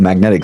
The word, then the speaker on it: MAGNTK: I'm currently CEO of Magnetic Systems, and that's spelled funny. M A G N TK.